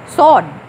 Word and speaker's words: sword: ये W भी silent है और R भी साइलेंट है. तो हम इसको पढ़ेंगे SOD, सॉर्ड. Sword. This word is sword. Sword. O का साउंड लंबा होता है.